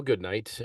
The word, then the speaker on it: Goodknight: that well my name's goodnight um spelled with a K in the middle that's why I'm